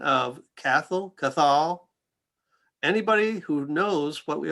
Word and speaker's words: Cathal: I had a friend who speaks Gaelic tell me it's like Cathal.